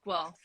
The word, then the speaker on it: Guelph: yeah cool though like the city is called guelph like one syllable just called wealth i don't know